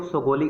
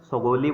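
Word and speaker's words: Sugauli: थी the treaty of सोगोली। इसको basically क्या क्या बोला जाता है, सोगोली बोला जाता है, सागोली बोला जाता है, और सुगोली भी बोला जाता है।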